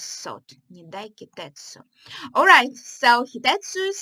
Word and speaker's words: Hitetsu: Alright, so Hitetsu is saying, did I say his name right? Yes, Hitetsu.